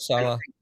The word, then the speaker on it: Saleh: And I think with a guy like, what do you pronounce, Sally or Soleil or whatever the hell Robert Saleh.